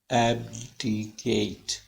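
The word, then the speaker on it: abdicate: एब हाइट पे जाएगी, एकदम आवाज प्राइमरी स्ट्रेस है, ऊपर जाएगी एब एब एब्डिकेट एब्डिकेट और फिर एब्डिकेट, फिर लाइन में आ जाएगी ऊपर जाके एब्डिकेट। ऐसे प्रोनाउंसिएशन इसकी बोली जाएगी।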